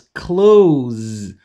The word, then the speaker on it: clothes: can be pronounced as clothes clothes but it's too difficult and much more often it's pronounced as clothes with the Z sound clothes exactly like in